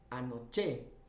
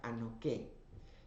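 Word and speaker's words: ἀνοχή: Esta es una palabra que es la palabra griega anoché, o también se puede pronunciar anoké.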